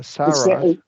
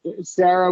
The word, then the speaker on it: Sarah: or sah Sarah yeah Sarah Sarah with a short e in the first one and then isah Sarah